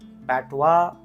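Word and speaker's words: patois: दिस word is पैटवा, दिस word is शैसी, दिस is child, दिस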